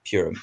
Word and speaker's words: Purim: week because it is the Jewish holiday of Purim. I hope I pronounced that right.